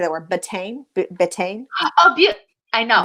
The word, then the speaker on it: betaine: can't say that word, betaine, betaine, Oh, I know. I think it's butane. butane. Butane is something that's flammable. So I don't think it's Okay, butane. It's betaine. It's betaine. betaine.